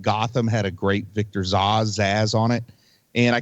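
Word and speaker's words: Zsasz: the cuts on him that's Victor zaz or Zas or how you want to pronounce it but uh he felt like they say zaz they call him zaz in the yeah he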